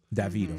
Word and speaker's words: Davido: they pronounce David as David. So David. If I go to the southern part of Africa, they'll be like Davido. Davido.